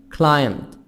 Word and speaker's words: climb: is the past participle of this verb climb climbed drank drank drank drunk so the pp drunk